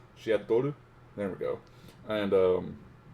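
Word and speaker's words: シアトル: There's a song on here called Seattle, which is awesome, or in Japanese you would pronounce it as Shiatoru. Shiatoru.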